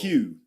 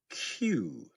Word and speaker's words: queue: Q. Q. Just like the letter Q.